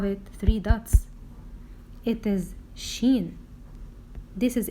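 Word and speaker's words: ش: but above it three dots how do we pronounce this letter this is letter Sheen she and its sound is Chef how do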